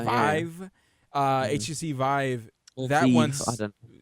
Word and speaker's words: Vive: The Vi is that was how it's pronounced? Vive. Yeah. Vive uh HTC Vive.